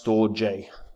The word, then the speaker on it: Storj: infrastructure uh Network it is cloud hosting it's pronounced store J store J apparently um and it's an open source uh